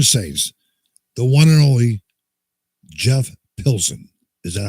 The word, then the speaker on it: Pilson: So from the Revolution Saints, the one and only Jeff Pilson.